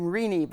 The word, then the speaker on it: Renee: You actually pronounced her first name Rini, but you got the right name right.